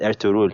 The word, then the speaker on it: Ertuğrul: they said I'm told at Turkish I think they pronounce it air to rule yeah I was like